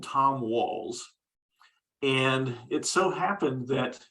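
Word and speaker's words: Wahl: And and he was genuinely happy that someone had recognized his name, because although Tom, it's pronounced Wall, it's actually spelled W-A-H-L.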